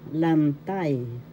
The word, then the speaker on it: lantay: pang-uri adjective Number one, lantai lantas form first syllable second syllable lan the second syllable has the accent l form or positive